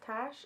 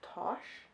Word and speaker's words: Tash: she okay so apparently her name is not pronounced tash it's pronounced tosh because there's a scene